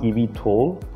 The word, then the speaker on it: eVTOL: so e v t o l so it's pronounced ev tall if it's not electric then it's just veto